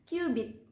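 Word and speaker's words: cubit: Tulisannya C-U-B-I-T. Bacanya kubit.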